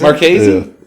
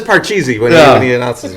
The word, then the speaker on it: Marchesi: saying at least get his name right Marchesi is Marquesa I mean that's his Twitter handle spells it out for you y'all know we're talking and that's how he pronounces it when he says they start the podcast okay no he says Parcheesi says let me intentionally